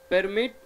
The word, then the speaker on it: permit: Unfortunately, city hall wouldn't permit them to get a permit. Permit. Yes, you permit, gentlemen. Permit. You also got. So when verb is there, the last syllable should be stressed.